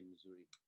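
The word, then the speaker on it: mzuri: when somebody says jambo you can say missouri like the state it's not spelled that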